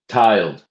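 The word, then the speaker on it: tyled: Tiled worshipper worshipful tiled is spelled t y l e d tiled.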